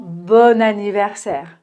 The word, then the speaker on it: bon anniversaire: Mais comme ça commence par une voyelle, on entend bon anniversaire.